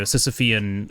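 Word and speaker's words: Sisyphean: Sisophian.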